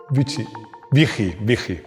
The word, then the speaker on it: Büchi: But Rodrigo tells me my pronunciation is wrong. Buchi, Büchi… Well, this guy was the one who invented the turbo.